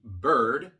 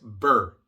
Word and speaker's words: bird: Se tiene que pronunciar la D. Para los hispanos es muy difícil pronunciar una D al final de la palabra después de otra consonante, porque esa combinación no existe en español. Pero tienen que practicar esto, porque si no pronuncian la D, es otra palabra totalmente diferente. Bird, bird. No es burr, porque burr es lo que uno dice cuando tiene frío. Burr es bird.